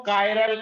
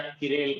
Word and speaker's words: chiral: इसको कायरल carbon भी कहते हैं। क्या कहते हैं? ऑप्टिकली एक्टिव कार्बन को कायरल या किरेल कार्बन। कायरल कार्बन या किरेल कार्बन दोनों प्रोनाउंस CHIRAL।